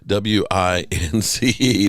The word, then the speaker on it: Wentz: It's not Wentz. It's Wince. Now get it right.